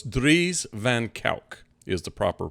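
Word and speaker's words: Dries van Kuijk: So it's Dries Van Kijck is the proper pronunciation of his name.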